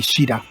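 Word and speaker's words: Caeda: And we get Sida, officially now pronounced Sida, even though it's supposed to be Shida.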